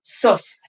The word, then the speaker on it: sous: So they understood imbas as this divine illumination, and also sus. It's spelled like the French sous, S-O-U-S, which is more of